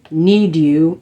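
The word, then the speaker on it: Knead U: to take the shade need you or ned you like netting bread is kind of how it's spelled k-n-e-a-d-u i'm gonna take that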